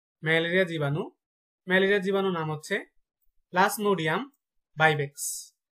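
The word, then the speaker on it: Plasmodium vivax: Malaria জীবাণু নাম হচ্ছে প্লাজমোডিয়াম ভাইভেক্স, প্লাজমোডিয়াম ভাইভেক্স।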